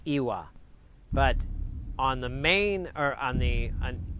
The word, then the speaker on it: iva: It's the only language I'm aware of where yes is a 2-syllable word. It's Iwa. But on the main, it's Iwa on the main island, but on like Gozo, it's Iva.